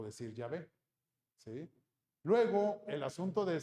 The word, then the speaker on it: Yahvé: En hebreo se utilizan estas consonantes que nosotros sabemos que se pronuncia Yahvé.